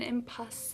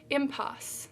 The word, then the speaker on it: impasse: heard this phrase before oh you don't pronounce the e at the end how awkward of me impasse synonyms deadlock dead end